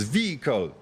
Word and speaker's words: vehicle: wanted to hear it's vehicle the stress is on the first syllable like bicycle and testicle as you guessed after